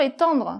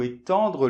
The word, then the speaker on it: étendre: Donc le premier, éteindre - Éteindre ! - Et le deuxième, étendre. - Étendre ! - Voilà ! Donc c'est la nasale qui change, donc je sais c'est